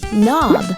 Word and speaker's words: knob: Could you share with the kids what are these words that start with the letter K, but the K sound is silent? All right. Listen carefully, kids. Knot, knife, knob.